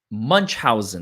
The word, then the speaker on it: Munchausen: Munchausen, that's how you pronounce it.